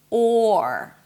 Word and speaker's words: or: You have a nice long open O sound, and only at the end you bring the tongue up for the R. Or.